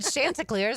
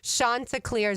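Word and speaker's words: Chanticleers: said it wrong and I'm sure I said Shantaars. I always thought it was like that. So, I wanted to play that for everybody to know. Shanta Clears is how you say it, but yeah.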